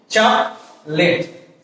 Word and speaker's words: chocolate: This is not chocolate, this is chocolate. Chocolate. O will be dropped from here.